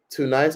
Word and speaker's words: Tunis: Tun nice or tunise? Tunis, that's how you say it.